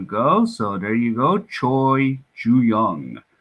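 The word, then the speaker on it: 최준용: Choi Ju-young or Che Ju-young. So if you pronounce it in Korean.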